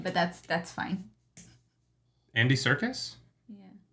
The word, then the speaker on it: Serkis: Andy Serkis? Yeah. His name starts with an S. Circus? Andy Serkis? Circus is spelled with a C.